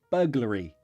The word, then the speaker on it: burglary: okay yes I can this is the word Bur that's a schwa burglar burglar re burglary burglary burglary stress here burglary have you ever done